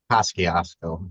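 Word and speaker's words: Kosciusko: Do you know how to pronounce that? Kosciuszko, that's how they say it.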